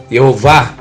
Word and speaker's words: Yehováh: consoante funções de vogal vai dar a pronúncia eu vá e não javé nunca javé e outro ponto quando